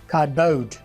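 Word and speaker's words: cardboard: तो इसे मैं सी ब्लास्ट कर लूँगा, तो ए आर को मैं आ करूँगा तो बनेगा खा। खा। खा के बाद डी आ गया खाद। तो बनेगा खाद, और इस ए आर को मैं साइलेंट कर दूंगा, कॉम्बिनेशन करके साइलेंट कर दूंगा तो बनेगा खादबोर्ड। कार्डबोर्ड। बल्कि ये बाउड बनेगा, ओ को प्राइमरी करेंगे ना, दो वाउल आगे, खादबाउड। खादबाउड। खादबाउड, यहाँ लिखा हुआ बोर्ड है लेकिन बाउड बोलेंगे, खादबाउड।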